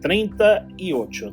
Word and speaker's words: treinta y ocho: It is written like this in Spanish, and it is pronounced treinta y ocho, 38, 38, 38.